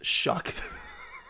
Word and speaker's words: Shough: How is SHOUGH pronounced shuck? Because it sort of rhymes with suck, and that's appropriate.